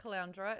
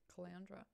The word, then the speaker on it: Caloundra: I like Caloundra. It's like Flounder's sister or something, brother. Caloundra.